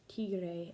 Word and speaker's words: tigre: So an example of that would be the word tiger in English is pronounced tigre in Spanish, and it's also spelled very similar.